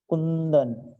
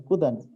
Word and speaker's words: कुंदन: कुंदन, यहाँ लिखा है कुदन, हमको क्या सही सब क्या होता है? कुंदन, ऊ के ऊपर बिंदु लगा, कुंदन।